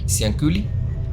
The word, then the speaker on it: Cianciulli: ¿Es Ciuli o Culi? Culi. Entonces estás bien, Culi. Cianciulli.